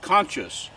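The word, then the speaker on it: conchas: use the Mexican shells I think they're pronounced conscious conscious c-o-n-c-h-a-s but they're they're made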